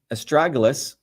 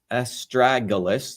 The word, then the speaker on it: astragalus: So again, as I started off, estragalus, estragalus, that's the way you pronounce this, is known as a guardian root.